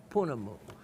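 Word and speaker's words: pounamu: Is it the same as Panamu, or some pronounce it Punamu, which is the Mary word for?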